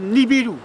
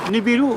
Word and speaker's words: Nibiru: Ils cherchaient de l'or, les Anunnaki, A-N-U-N-N-A-K-I, qui viennent de la planète Nibiru, où on écrit, enfin, pour Nibiru, hein, ou Nibiru, nous en Thaïsien on dit le U se prononce où.